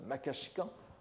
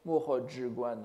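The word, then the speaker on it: 摩訶止観: Nous n'avons pas manqué de rappeler combien ce traité, la somme de quiétude et de contemplation, le Makashikan en prononciation japonaise, Mohojiguan en chinois, n'est-ce pas, bien sûr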